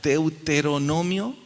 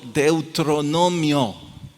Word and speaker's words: Deuteronomio: repetir en voz alta deuteronomio listo no deben pronunciarlo deuteronomio es de ute pero no mío y el ser específico